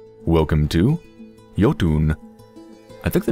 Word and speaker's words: Jotun: welcome to yotun I think the name is actually pronounced yoton but I'm not quite sure so I'm just going to pronounce it as if it was Finnish because hey why not